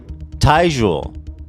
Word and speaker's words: Tyjule: How do you say this guy's name? It's Tyjule. I like Tyjule.